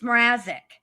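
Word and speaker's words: Mrazik: Also, you know how to spell her You know how to pronounce that judge's name. It's Marazek.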